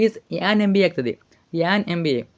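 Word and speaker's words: MBA: ಆನ್ ಎಂಬಿಎ ಆಗ್ತದೆ ಆನ್ ಎಂಬಿಎ ಬೇಕಾದರೆ ಉಚ್ಚಾರ ಮಾಡಿ ನೀವು ಎಂ ಅಂತ ಉಚ್ಚಾರ ಮಾಡಿ ಎಂಬಿಎ ಇದು ಅರ್ಥ ಆಯ್ತಾ ಸರಿಯಾದ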